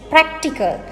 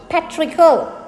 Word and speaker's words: practical: is written practice and it is practical not patrickal why say it in